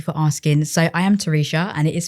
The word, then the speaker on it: Teresha: So I am Terisha and it is spelled T E R E S H A.